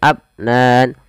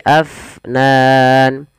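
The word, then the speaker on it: أفنان: Kemudian pada lafal fa alirkan nafasnya, jangan abnan tapi afnan.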